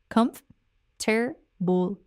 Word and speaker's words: comfortable: It flows so much better than the 4-syllable version.